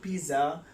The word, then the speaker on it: pizza: It's not pizza. The word is pizza. The word is pizza, right? Usually, even the pizza shop, the servants say the pizza word, right? The word is wrong. It's pizza.